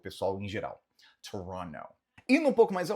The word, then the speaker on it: Toronto: em inglês comumente falamos Toronto. Não pronunciamos esse T final de forma comum, tá?